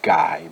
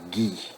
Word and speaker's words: Ghee: characters in the story ghee does not pronounce as guy but gi lily little ghee and